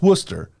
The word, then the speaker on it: Worcester: of Massachusetts and what there's a town in Massachusetts called Worcester M oh and it's spelled w w r o r c s t e r so it's Worcester Worcester Shire mhm that's that's the